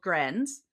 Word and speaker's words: Grens: And he was like, "Maybe like grins, but like not spelled like that. Like a smile."